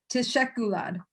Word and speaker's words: teşekkürler: then how do you say thank you? Teşekkürler.